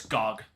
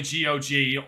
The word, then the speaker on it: GOG: I've never heard someone pronounce it as Gogg. Only GG or Good Old Games.